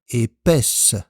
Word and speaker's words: épaisse: Attention, au masculin on a épais avec le son E, au féminin épaisse avec le son E.